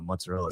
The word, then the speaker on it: mozzarella: I will go to town on some mozzarella sticks. Or my wife so I'm Italian, and if I don't say it like an Italian, she like freaks out.